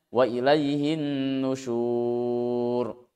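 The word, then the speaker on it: وَإِلَيْهِ النُّشُورُ: Huruf waw dan ro-nya secara fisik yang terlihat, yang tertulis harokat dhammah karena diwakafkan maka dianggap sukun. Sehingga membacanya wa ilaihin nusyur.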